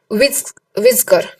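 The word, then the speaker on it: Weizsäcker: according pronounce करना, और Karl विज्कर, वाइजकर या विज्कर भी बोल सकते हैं आप, इसको वाइजकर बोल दो अच्छा रहेगा, कार्ल वाइजकर और ये ओटो शिमिड, ये एक जर्मन थे, ये वाइजकर जो है वो जर्मन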